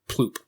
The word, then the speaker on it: ploop: is that's Arch priest ploop so these guys you know it's pronounced bloop yeah yes I know these